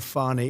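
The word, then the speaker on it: Fani: treated you very unfairly she goes by the name of fonnie even though it's F A ni I she wants to pronounce fonnie she's little little French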